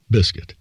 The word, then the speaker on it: Biscuit: had to do with the way we said Biscuit, or sang it, in a high voice that rose on the first syllable and dropped on the second, the combination of rising and falling tones being almost the same as that in a meow.